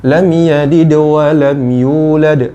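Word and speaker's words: لَمْ يَلِدْ وَلَمْ يُولَدْ: Nah, tadi ada beberapa yang keliru. Lam yalid wa lam, itu bukan seperti itu cara bacanya. Ini keliru. Kenapa keliru? Karena posisi dalnya ketika dia sukun, lam yalid wa lam yulad.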